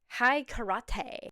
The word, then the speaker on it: High Karate: In the 1960s and 70s, there was a fragrance called high karate, that is how you're supposed to pronounce it, correct, with an advertisement that started the trend of self-defense against women because you smelled too good.